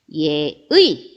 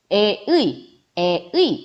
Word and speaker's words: 예의: 예를 들어서 예의 이렇게 했을 때 얘 발음 어떻게 해야 되냐면 예의 이렇게 발음을 해주어야 한다라는 거죠. 애의 뭐 이런 식으로 다르게 발음하시면 안 된다라는 거예요. 예의 이렇게 정확하게 발음해 주셔야 한다는 겁니다.